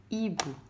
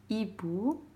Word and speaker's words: hibou: Donc, comme on a le mot hibou, le hibou. Donc, hibou, le mot commence avec H, comme 8. On écrit H mais on ne va pas le prononcer, d'accord?